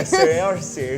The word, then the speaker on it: Saoirse: I'm just happy I pronounced Saoirse close enough to right. Saoirse. Yeah, Saoirse.